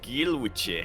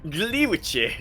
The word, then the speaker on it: Gliwice: Gilwiche, I think is how it's pronounced. Oh yeah, it's one of the most famous and notable cities in all of. I'm just Gliwice, not Gil. Gli.